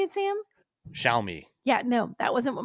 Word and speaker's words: Xiaomi: All right, last one is the Xiaomi SU7.